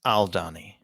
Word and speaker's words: Aldhani: the uh aldhani and is that how it's pronounced aldhani the people are the Donny and the planet is aldani aldani okay thank you um whenever he talks